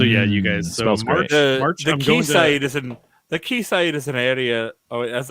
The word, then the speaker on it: Quayside: ireland or england that's they they pronounce a key actually but okay hold on wait they had it yeah google says this key side key side okay [